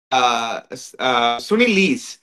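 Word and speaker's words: Sune Luus: என்ன அந்த actually it's சுனில் லீஸ், அவங்களோட பேர் வந்து ப்ரொனவுன்ஸ்மெண்ட் வந்து சுனில் லீஸ்ன்னு ப்ரொனவுன்ஸ் பண்ணுவாங்க.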